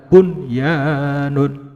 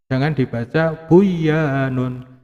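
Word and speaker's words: بنيان: Maka tidak boleh dibaca duya, tidak boleh. Harus dibaca dunya, ya, dunya. Kenapa? Karena berada di dalam satu kalimat, ya.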